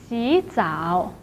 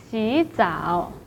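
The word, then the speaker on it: 洗澡: So 洗 should be pronounced as 洗, but in this situation, the first third tone should be changed to the second tone. 洗澡.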